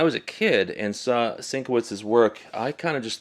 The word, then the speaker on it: Sienkiewicz: I'm going to look into how to properly pronounce his name. Maybe if I find it, we'll paste it right here. Sienkiewicz.